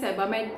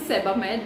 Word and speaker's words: Sebamed: Next सैम्पल size product जो मुझे मिला है वो है सेबामेड का। मैंने इससे पहले इसकी प्रोनाउंसिएशन गलत बोली, आई एम so sorry for that. This is सेबामेड, this is नॉट सीबेम्ड, मैंने सीबेम्ड बोला, आई एम सो सॉरी।